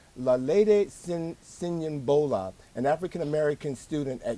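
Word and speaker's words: Lolade Siyonbola: I think her name is pronounced Lalede Sinyambola, an African American student at Yale University sleeping in a public area of her dorm.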